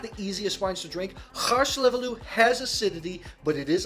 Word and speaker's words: Hárslevelű: Just a little fun fact in Hungary, if you see an S by itself phonetically, it's a sh sound, hence Hárslevelű.